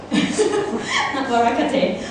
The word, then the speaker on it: Worakate: But my first name will be pronounced like Worakate. Worakate. Worakate is like a Japanese, okay, something.